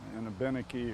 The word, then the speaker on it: Abenaki: good spot to build a benaki or abenaki depending on whether you use the french or the english version of the word which isn't either way that we pronounce it would be a good